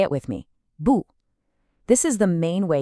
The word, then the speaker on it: 不: It also has that falling tone. It's sharp and quick. Say it with me, 不.